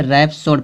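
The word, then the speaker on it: rhapsody: यच का उच्चारण हा होता है, लेकिन किसी शब्द के शुरू में आर्यच हो तो यच का उच्चारण नहीं होता है। क्या कह रहा है? आर्यच होना चाहिए, किसी वर्ड की स्टार्टिंग में आर्यच होना चाहिए। यहाँ देख दिया आर्यच ना, आर्यच आ गया ना। जब आर्यच आ गया इस यच का उच्चारण नहीं होगा।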